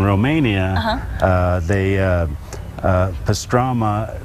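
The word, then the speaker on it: pastramă: they uh uh pastrama they call it pastrama okay and then when it came to the united states the the italians they got a hold of it i think and uh made it rhyme with salami salami what are you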